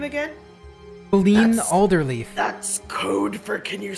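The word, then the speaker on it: Qelline Alderleaf: Ben Alderleaf. That's code for Can you spell that, please?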